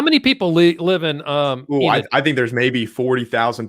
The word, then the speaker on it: Enid: So it is Enid, not Enid. Yes. Yep. Right? It's Enid.